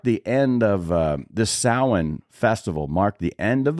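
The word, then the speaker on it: Samhain: like that in Celtic runes so but it's pronounced sin and it was a pagan Festival that was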